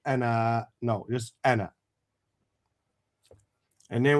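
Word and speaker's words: أنا: And is not pronounced as a long vowel. Anna.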